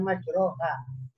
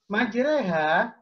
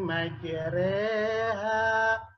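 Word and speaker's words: مَجْرٰىهَا: Apa itu cara membacanya Bukan majroha tapi menjer Eha itu ya majreha atau dikatakan bacaan imalah ya adalah Hai membaca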